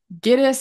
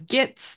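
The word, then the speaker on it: Gittes: just the way that he mispronounces gitis and says gits the way that he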